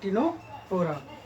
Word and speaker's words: Ctenophora: P is silent, so these are called Ctenophora.